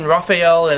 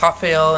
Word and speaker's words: Rafael: something wrong like um I was saying rapael and Roger my prediction video and it's pronounced Rafael and hoger then hey tell me